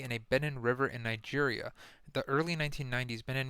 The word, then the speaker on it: Niger: multi-party elections Bennett along with Burkina Faso and Niger that's how you pronounce that country Niger is home to the